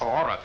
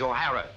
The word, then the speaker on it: O'Hara: do you remember saying my name is not aura it is o'hara here mr o'hara yes